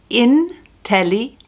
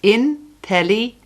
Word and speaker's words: inteligente: Intelligent is inteligente. It's got 5 syllables. Inteligente. Inteligente.